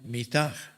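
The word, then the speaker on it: מִטָּה: La otra palabra lleva las vocales I, A y se pronuncia mitad, pero se escriben iguales.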